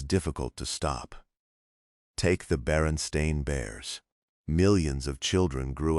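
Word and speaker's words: Berenstain: Yet a surprising number of adults insist the name was Baronstein Bears, not Baron Stain. Baronstein. Many people remember seeing it that way, pronouncing it that way, writing it that way, but every official copy says Baron Stain.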